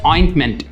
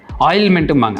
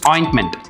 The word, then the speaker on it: ointment: பார்த்தீங்கன்னா it's called as ஆயின்ட்மெண்ட். ஆயின்ட்மெண்ட், அந்த டி வந்துட்டு நிறைய பேர் சொல்ல மாட்டாங்க, OINTMENT அப்படிங்கிறதுல அந்த ஃபஸ்ட்டு டீயை வந்து நிறைய பேர் ஸ்ட்ரெஸ் பண்ண மாட்டாங்க. ஆயில்மெண்ட்டும்பாங்க, அது ஆயில்மெண்ட் கிடையாது, இட்ஸ் ஆயின்ட்மெண்ட்.